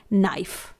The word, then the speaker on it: knife: जी हाँ, यहां पर N से पहले K आया हुआ है, रेड कलर लेटर, इसे हम साइलेंट रखेंगे और प्रोनाउंस करेंगे नाइफ।